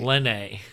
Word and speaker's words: Lene: You do realize that the second one starts with an L, not a J, right? Lene.